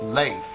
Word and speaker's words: Leif: Also, it's pronounced Leif, not Leaf.